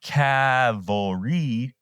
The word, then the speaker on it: cavalry: the third Colorado Cavalry I have to pronounce the word Cavalry like this because I'm tired of people telling me that I'm saying it wrong Cal and during the